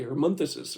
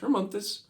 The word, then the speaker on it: Hermonthus: And I keep double checking because I'm expecting other syllables in these words and they're not there. And so I'm like Hermonthus instead of because I naturally want to say Hermonthsus or something, but it's just Hermonthus.